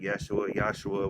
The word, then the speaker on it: Yeshua: This person that died on the cross named Yeshua, however you wanted to spell his name, but pronounced it Yeshua, whatever.